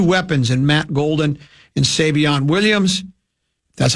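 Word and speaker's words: Savion Williams: that added two weapons in Matt Golden and Savon Williams.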